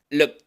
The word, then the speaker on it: looked: La K, looked. Ya tenemos la pronunciación de la D, que por este contexto se pronuncia como T. Looked.